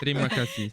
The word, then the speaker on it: terima kasih: Terima kasih. يعني terima kasih يعني شكرا في اللغة الإندونيسية. تريما Terima كاسي. kasih. Perfect. T'as bien prononcé. تريما كاسي.